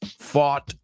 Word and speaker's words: fought: Fight is an irregular verb. It rhymes with bought. So buy, bought, bought, fight, fought, fought.